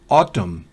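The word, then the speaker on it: autumn: fuera en ese caso la n después de m al final de una palabra o a veces en medio no se pronuncia por ejemplo otton otoño esa n no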